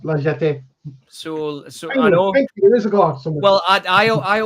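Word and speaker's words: La Jetée: Yes, cuz finally somebody mentioned it and correctly pronounced Liet. So, so many years ago, well, I I I always called it the jetty being from up north and and and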